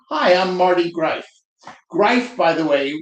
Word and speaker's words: Greif: say hi I'm Marty Grafe by the way rhymes with life and people go oh and that's just so out there that people will remember griefe that's that life guy.